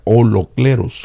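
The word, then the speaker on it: ὁλόκληρος: La palabra completo es una palabra griega que se pronuncia holocleros con holocos y da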